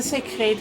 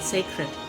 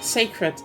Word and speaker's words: sacred: see because like yes the say crate it's nice oh it's a gold crown even holy first time I think it's pronounced sacred sacred yes for some reason